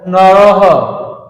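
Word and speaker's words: নরঃ: দিচ্ছি তোমরা খুব মনোযোগ দিয়ে শোনো এবং দেখো নরহ নর নরাহা দেখো এখানে বিসর্গ থাকলে কিন্তু বিসর্গের উচ্চারণটা অনেকটা হ এর মত হয় হয় এর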